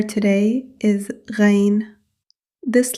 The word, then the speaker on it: غ: This letter comes from the upper part of the throat. It is slightly higher than the articulation point of Ayn. You should feel a gentle vibration in the upper throat while pronouncing this letter.